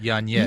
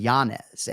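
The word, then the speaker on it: Yanez: He put the nay in there in Yanz. Yanz. Yeah. So like Yeah. A lot of his UFC film on UFC fight pass is Adrien Giannis and that is how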